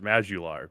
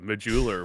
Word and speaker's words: Majuular: pronunciation of that uh you actually nailed the Irish pronunciation the standard American pronunciation of my name is mular but muler works great if you are of English descent or something like that muler uh